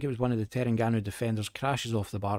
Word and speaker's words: Terengganu: And can't remember how to pronounce their name. I think it's Terengganu 0. Yes, Terengganu, I was right.